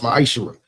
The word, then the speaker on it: ma'aser: Means 10th in Hebrew and it's pronounced ma'aser.